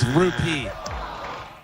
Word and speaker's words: rupee: integrity ruby oh no you said it wrong rupee No point.